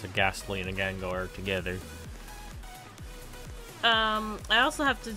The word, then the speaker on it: Gengar: Ginger? I guess that's how you say it. It's Gengar.